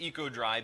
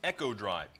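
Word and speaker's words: Eco-Drive: Now, you may hear it as Eco Drive, and most of the material they've sent to us, it's going to be pronounced Echo Drive.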